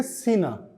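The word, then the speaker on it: цена: अब प्राइस का पूछेंगे प्राइस को क्या बोलते हैं कीमत को तो वो बोलेंगे सीना सीना कौन सा वाला जैसे आपने सुनामी का पढ़ा होगा तो उसमें टी लिखा होता है और एस यू एम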